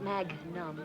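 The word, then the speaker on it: magnum: with what you've been drinking Charlie and it's pronounced mag num I don't care if it's pronounced box car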